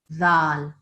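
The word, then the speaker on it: ذال: Put your tongue in between your teeth and make that sound. Dhal. Dal. Well done. So that's what I want you to say every time you see dhal. That's how you pronounce it, okay?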